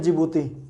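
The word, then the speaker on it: Djibouti: और यहां पर आप देखेंगे तो एक देश दिखेगा जिसको बोलते हैं जिबूती। जिबूती स्पेलिंग डी से शुरू होती है, याद रखेगा, जिबूती है।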